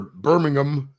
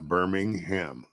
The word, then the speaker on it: Birmingham: Got a long weekend in Birmingham or Birmingham, as you blokes call it. We have a Birmingham in the States, Alabama. As it's spelled. Birmingham. Yeah, Birmingham. Birmingham. It doesn't say EM at the end, it's HAM at the end.